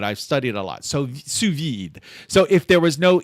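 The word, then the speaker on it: sous vide: So it sounds like the d. So if I remember my French, like if there's a v if there's a e after a consonant, then you pronounce the consonant. I I feel like that is a rule in French.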